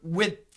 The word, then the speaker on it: width: So the D and the TH are similar sounds. So we should combine those sounds.